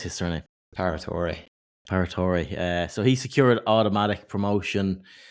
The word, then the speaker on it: Paratore: And the winner of this event as well, Renato Paratore, or whatever how do you pronounce his surname? Paratore.